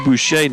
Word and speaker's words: Boucher: I think it's Miss Butcher. I think we were checking on that. We were trying to remember if this was the. We didn't get the name, the pronunciation until just now on William or Will. So Will Boucher now the pitcher.